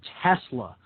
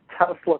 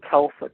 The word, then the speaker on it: Tesla: across a term called tesla coil and of course i pronounced it telsa coil i had no idea